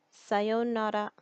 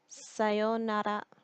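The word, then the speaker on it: さようなら: next we're gonna learn sayonara sayonara when you're saying sayonara you're not gonna really pronounce the are it's gonna be pronounced more like an L sound so sayonara sayonara means goodbye next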